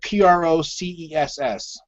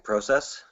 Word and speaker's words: process: big ones for me when you pronounce the word PR OC es s the process process process versus process that's usually a giveaway right right but at least